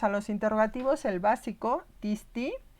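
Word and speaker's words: τίς: un círculo, es que siempre tiene acento sobre la iota. Este interrogativo siempre estará acentuado en la raíz, en la primera sílaba, en la iota. ¿Sí? O sea, vamos a tener tis, tinos, tini, tina.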